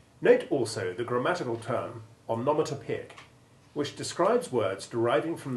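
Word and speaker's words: onomatopoeic: also the grammatical term omnometer peak which describes words deriving from the sound of their associated action like splash it can also be pronounced onomatopic which is less good but more often heard we also noted that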